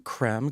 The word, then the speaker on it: Creme: Uh, you can pronounce my name any way you want. It's creme if you fancy, cream if you nasty.